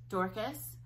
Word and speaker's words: Dorcas: Dorcas, which apparently I have pronounced correctly.